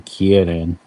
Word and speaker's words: Kirin: Actually, in yeah, in Chinese it's a Qilin. In Japanese it's a Kirin.